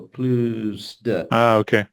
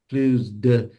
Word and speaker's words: plus de: the S will typically sound to your ears like a Z, mainly because it's just being pushed on to the next syllable, plus de.